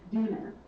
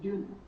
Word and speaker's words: Dooner: And again, this was Caroline, I'm going to say it wrong, Dooner, as in like sooner, like Dooner.